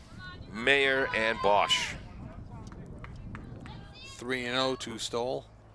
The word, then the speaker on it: Stowell: Autumn Stowell would you pronounce it Stowell or Stowell? I went with Stoll.